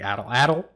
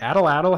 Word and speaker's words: atlatl: But I wanted to talk a little bit about the little known spear throwing device called the atlatl. That is spelt ATL, just in case you need to spell it for some reason.